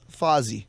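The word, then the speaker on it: Fozzy: another plug playing tonight Fossey am I saying it right fuzzy fuzzy like the Fonz I'm not Fonzie if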